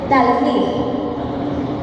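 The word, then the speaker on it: תלמיד: m de mamá y latina d debo Sí talmid su origen es hebreo y se refiere a discípulo discípulo significa alumno o estudiante Sí en el hebreo talmid que es discípulo significa alumno o estudiante vamos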